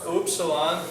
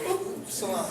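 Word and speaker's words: Upsilon: next letter is oops oops Salon remember you slip and go oop Salon okay all right and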